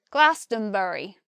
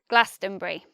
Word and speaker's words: Glastonbury: Glastonbury and I believe in a West country accent people might say Glastonbury Glastonbury they'll say it with four syllables so but for me the most natural pronunciation is Glastonbury next let's look at